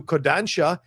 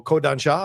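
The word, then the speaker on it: Kodansha: They've reverted back to Kodancha. Oh, Kodan Sha, I'm sorry.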